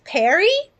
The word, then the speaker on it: Paris: Your name is Paris with a silent S. So your name is Perry?